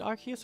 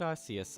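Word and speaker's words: Arceus: that's the idea anyway is it archus or is it arus I honestly the Pokémon company has said it both ways so I don't know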